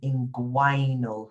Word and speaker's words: inguinal: Smith, your problem is that you have an inguinal hernia. So here you pronounce the G and the U.